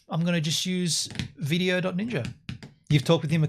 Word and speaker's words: VDO.Ninja: or first of all video Ninja v. ninja is um as you said it's not an acronym it's just the way it's pronounced video Ninja right and it is